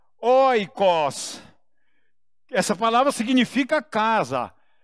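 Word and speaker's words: οἶκος: você não precisa guardar que se pronuncia Oi coci essa palavra significa casa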